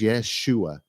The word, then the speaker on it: Yeshua: and all that stuff his name was Yeshua that is exactly how it's pronounced how do I know look at the Greek text it spells out Yeshua I may have to